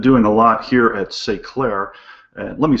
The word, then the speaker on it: S'eclairer: c l a i r e r uh say Clair is a French word which means Enlighten self